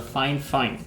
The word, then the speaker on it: Fifine: at the trash but this find find is pronounced as a fine fine so it's supposed to be one of the